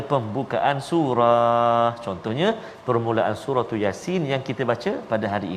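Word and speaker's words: يس: Yasin. Jangan ya tu panjang. Yasin. Salah. Ya tu 2 harakat saja. Jangan 2 rakaat. Yasin.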